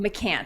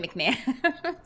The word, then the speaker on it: McCance: Oh, McCance. yeah, I think you said McCance. You said it right the first time, but just now you said McMahon.